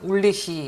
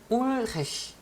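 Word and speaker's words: Ulrich: L 다음에 R가 나온다는 게 그냥 우리는 그냥 울리히 이러면 참 쉽잖아요. 근데 울헤히 아주 어려운 발음입니다. 그냥 우리는 처음 배우니까 울리히 해도 괜찮아요.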